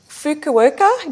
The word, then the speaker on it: Fukuoka: Hey, you first came to international attention, I believe, in 1981 when you won the Fukuoka. Did I pronounce that right?